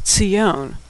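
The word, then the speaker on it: ציון: In fact, the Hebrew word for what we call Zion in English is Tzion.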